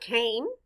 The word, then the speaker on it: came: The letter A stands for the long A sound, A. The E is silent. Blend with me. K-A-M. Came.